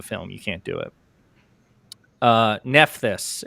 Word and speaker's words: Nephthys: Nephthys is what Nevercroft says. Nephthys. Okay. Oh yeah, I guess that's how it's pronounced in Prince of Egypt.